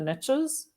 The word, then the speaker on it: niche: horrible american saying because it relies on a terrible pronunciation of the word niche but the saying goes the riches are in the niches um and you have to say it like that otherwise it just doesn't make sense because the riches are